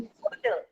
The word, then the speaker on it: could: Could. तो could नहीं बोलते हैं, could नहीं बोलेंगे. क्या बोलेंगे? Could. कुड. How to pronounce this word? Could. Could. तो L हमारा हो गया silent.